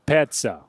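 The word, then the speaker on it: Petsa: not have a choice can you please stop calling that guy Pekka he's not Pekka he's Peter petza pets I've been trying to try like p-e-t-s-a that's how you pronounce it there you go okay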